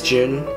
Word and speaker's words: Joon: started so yes my name is Jun and I actually don't have an American name and that's just my Korean name directly translated into English just one thing to note is that my name is spelled a little differently instead of J like the month it's spelled j o o n and I guess for